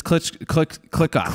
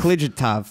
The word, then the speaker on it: Klijatov: It's click off. Okay, click off. It's probably totally wrong, but No, we're gonna go with it's it. click off. The J is silent.